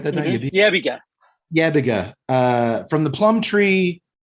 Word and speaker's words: Yebiga: Yebiga.